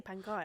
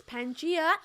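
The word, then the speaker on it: Pangaia: a collection it's Pangia is that how you pronounce it Pang or panga some people say panga well they just don't know how to speak it's Pangia xpark so Pangia has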